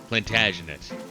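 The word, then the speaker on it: Plantagenet: The plantaginate. Plantagenate. That's how you pronounce that.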